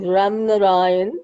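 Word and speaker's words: Ramnarayan: so sorry can you can you teach me your last name how to i mean your middle name how to pronounce it my maiden maiden name ram narayan ram narayan and is my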